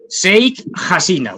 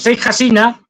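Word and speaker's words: Sheikh Hasina: tengo aquí apuntado e Pues bueno eh mal pronunciado seik jina Bueno pues seik hasina ya se ha ido hay diferentes cuestiones no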